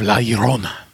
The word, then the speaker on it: La Llorona: the curse of why I say the curse of La Llorona that's how it's pronounced I had to keep